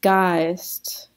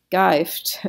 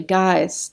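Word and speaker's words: Geist: okay next this is guys guys so g-e-i-s-t so of course we've got the long s in there and it's very tempting to say geifed or something but it's actually guys along e and then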